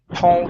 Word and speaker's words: tall: so let's try this Tall Grass surrounded by Tall Grass okay very good now with tall instead of saying to O with an o sound open the mouth up nice and wide a tall tall grass